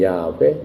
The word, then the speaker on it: 야훼: YHWH를 발음을 하면은 야훼, 여호와 이렇게 발음을 할 수 있습니다.